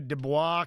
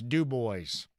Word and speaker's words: Dubois: All right, I'm going to go down to Dubois County. No, it's Dub Boys. Got to get all those consonants in there.